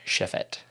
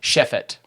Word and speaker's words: Chefate: up so yeah it's Chef 8 but it's shefet correct yes I'm G to try and pronounce it correctly okay all right shefit yes all right cool okay so yeah where'